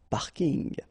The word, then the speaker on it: parking: So I know it's coming from English, but still you should pronounce it the French way. Parking unl.